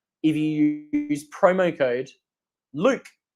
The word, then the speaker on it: Luke: They're also going to give you 5% off if you use promo code Luke. It's L-U-K-E, capital letters. You can't forget it. It rhymes with puke.